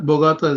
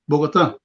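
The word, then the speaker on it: Bogotá: okay first of all it's not Bogata it's Bogota okay you said to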